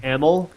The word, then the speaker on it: Amell: It's pronounced Amell.